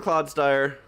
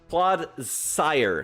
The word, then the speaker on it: Clodsire: Let's go into the Claude Dire. Claude Zire. I keep saying Claude's Dyer. There you go. Uh, who is saying I mispronounced stuff? Claude sire like the sire. Like the lord sire.